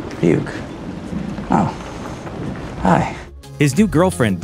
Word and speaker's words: Ryuk: It's pronounced Ryuk. Ryuk.